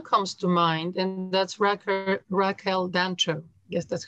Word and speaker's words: Raquel Dancho: Well, one comes to mind, and that's Raquel Dancho. Yes, that's how you pronounce it.